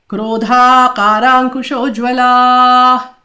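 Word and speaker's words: क्रोधाकाराङ्कुशोज्ज्वला: Krodhakarakushojwalah. Krodha ka ra. So kro is one ra and one o. Dha a matra. Ka a matra. Ra a matra.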